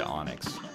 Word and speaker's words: Enix: It's spelled Enix, but it's said Onyx.